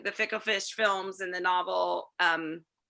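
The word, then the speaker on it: NOVL: Yes, it's pronounced the novel, but it's N-O-V-L, right?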